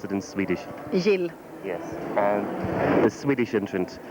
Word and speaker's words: Jill: How would you pronounce it in Swedish? Jill.